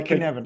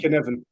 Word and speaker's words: Cynefin: is Welsh, but think of it a K. I know. Yeah, Cynefin. Cynefin.